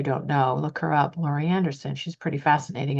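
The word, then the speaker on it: Laurie Anderson: and the trailblazers and the brave people who Lori Anderson said the reason most reason the biggest reason why she's an artist is she wants to have freedom.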